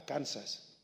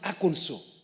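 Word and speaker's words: Arkansas: to aanso I know people call it a aners it's not called aers it's called AO in fact they passed a law on the pronunciation of aono if you say AAS they tell you no it is wrong it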